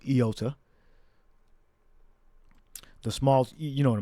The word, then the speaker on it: iota: But it may have been actually pronounced with a yota. All right, or a yod. All right, but in the Greek, as we have here, it's pronounced iota.